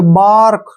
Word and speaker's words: bark: यहाँ पर क्या चीज है, ए के बाद आर आया है तो हम ए का उच्चारण आ करेंगे। जैसे बार्क, ठीक है ना, ए